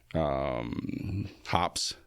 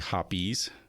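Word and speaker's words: Hoppe's: Hops. It's actually Hoppies. Like the gun cleaning oil? Yeah, yeah. It's not. Some people call it hops. It's actually Hoppies.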